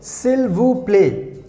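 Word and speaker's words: s'il vous plaît: in french language we also have the word silvu play silver play and also you can say silter play silver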